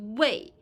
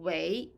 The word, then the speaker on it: 为: Because 为 here function as a verb, so the pronunciation is not fourth tone, it's not 为. It is second tone, 为.